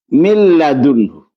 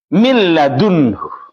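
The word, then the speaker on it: مِن لَّدُنْهُ: Milladunhu. Ya. Milladunhu ini tidak ada nunnya. Ketika bertemu lam, ini hilang nunnya, langsung masuk ke lam. Dibaca dengan seakan-akan seperti ini tulisannya. Milladunhu. Seperti ini tulisannya, bacaannya. Milladunhu.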